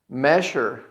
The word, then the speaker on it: measure: Measure. Measure. Okay? Now here the situation is the S and the U is going to have a sound like sh. Okay? It's not sure, it's measure.